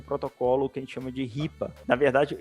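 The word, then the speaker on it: HIPAA: que ele chamou de Ripa na verdade eu achava que o que a pronúncia era até raiva é h i p a mas é um protocolo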